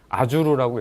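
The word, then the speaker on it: Azure: 발음하기 좀 어렵긴 하지만 윈도우 애저 또는 뭐 일본 사람들은 아주르라고 읽더라고요. 그 다음에 뭐 영국이나 뭐 미국 하면 약간씩 발음이 좀 틀리긴 한데 그냥 한국적인 발음으로 애저라는 표현을 하겠습니다.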